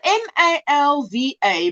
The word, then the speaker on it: Malva: It's spelled M-A-L-V-A, but we say a soft V. It's Malva. We don't say Malva. We say Malva.